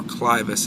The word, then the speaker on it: clivus: And that's really an extension of the clivus, or clivus as it's sometimes pronounced.